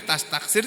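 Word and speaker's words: تستكثر: fi'il mudhor marfu ini tastaksiru bukan tastaksir membacanya tastaksir tapi tulisannya tastaksiru nih kalau ini tulisannya maupun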